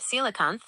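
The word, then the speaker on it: coelacanth: She said, asking about the coelicanth, pronounced silicon. It is not extinct.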